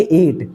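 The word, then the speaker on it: ate: Silent रहता है। तो इसको हम पढ़ेंगे एट।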